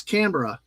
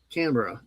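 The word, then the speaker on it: Canberra: He's like, "It's Cambra. Camber."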